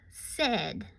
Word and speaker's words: said: new site word for today this word is pronounced said can you say said right said what spell